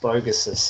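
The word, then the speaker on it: Vogus: But it's pronounced Vo-Gus. It's Lithuanian, so yeah.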